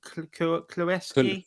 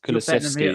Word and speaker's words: Kulusevski: I can't pronounce his name. Kuleski? Kulusevski.